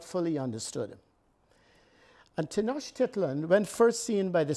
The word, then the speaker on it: Tenochtitlan: predated the Aztecs now you have trouble pronouncing this word it's tenochitlan and Tenochtitlan in the